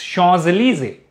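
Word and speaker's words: Champs-Élysées: something like for example chanzalizi in french you write champs elises but you pronounce chars easy right so in sanskrit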